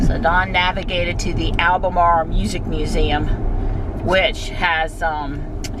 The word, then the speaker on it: Albemarle: I told Don it's pronounced Albemarle.